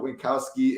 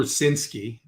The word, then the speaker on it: Rucinski: Arizona Diamondbacks, Oakland Athletics, Merrill Kelly, Drew Winkowski in the mound. I did not pronounce his last name right, but the D-backs have a pretty high total.